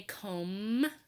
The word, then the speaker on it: comb: in the same letter but in the word comb the B is silent in the word Club